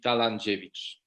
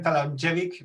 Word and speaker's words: Talandziewicz: Just will be pronounced Talandziewicz, but the foreigners say usually Talandziewicz.